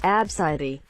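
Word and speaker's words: Abcde: she was named Nevaeh ABCD pronounced abside e and gt300 plus people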